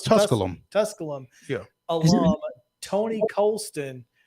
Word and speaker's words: Tusculum: Is it No, it's Tusculum.